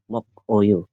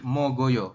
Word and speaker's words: 먹어요: shimel Jom shimel terus mok Oyo mogoyo mogoyo mogoyo ya jadi gioknya ee berubah bunyi jadi G Ya Pindah ke sini pindah ke iang jadi G Jadi mogoyo bukan mokoyo Oke Nah di sini